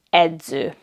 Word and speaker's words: edző: It has the Z sound like at the end of English words kids, friends, hands.